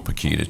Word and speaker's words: Pukita: The last name is Pekita. It rhymes with the banana brand Chiquita, so Pekita, Chiquita.